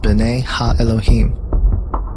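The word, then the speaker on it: בני אלהים: of God mentioned here in the Hebrew is pronounced Bena Elohim the Septuagint which is the Greek translation of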